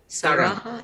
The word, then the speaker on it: Saraha: Saraha, I believe I pronounced it right.